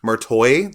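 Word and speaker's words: Marti: have good old Sarah Michelle Geller as Catherine martoy that's how you say her name apparently Ryan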